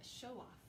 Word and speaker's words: show-off: candlestick okay next word show-off you'll remember that Oh w sometimes says oh and sometimes says ow in this case it's gonna say oh and then off needs